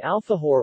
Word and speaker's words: alfajor: An alfajor or alahu, Spanish pronunciation, alfajo, plural alfajores, is a